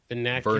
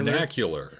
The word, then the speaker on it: vernacular: Venacular. Vernacular.